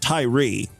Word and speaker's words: Tyre: I'm hoping his name wasn't Tyree, because Tyree would be Tyree, or there would be like a little accent over the E, right? This is Tyre, Tyre. That's how I pronounce it.